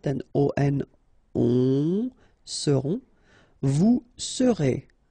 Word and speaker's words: serez: O-N, on, seront, vous serez, Z together at the end, et serez, alright?